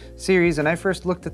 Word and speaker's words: Ceres: case the series 500 I know it's c-e-r-e-s but thermaltake assures me that that is pronounced series and I first looked